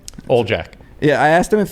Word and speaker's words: Oljaca: i i can we say your last name ole jack yeah i asked him if his name it's it's spelled like a o-l-j-a-c-a and i said is